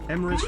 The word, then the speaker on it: Emmeris: Emmeris rhymes with abyss just raided.